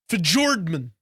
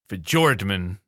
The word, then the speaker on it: Fjordman: It's called, it's pronounced Fjordman. Fjordman. Okay. Fjordman. It's a hard J. Fjordman.